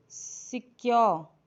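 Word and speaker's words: secure: आर जो होगा वो साइलेंट हो जाएगा। ऐसे सिक्योर, सिक्योर।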